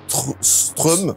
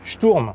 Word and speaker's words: Sturm: Qui est l'une des dernières sections du jeu, le joueur rencontrera un mini-boss nommé Strum. Stromae. Je suis un monstre, Strum. Non, Sturm. Sturm.